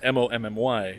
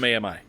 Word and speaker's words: Mami: And this is Spanish Mami, not Mommy. No. Mami.